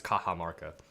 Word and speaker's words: Cajamarca: in mexico in latin america the y's are pronounced with is j's but it's a j anyways um so it's kaha marca kaha maka so from peru i suppose um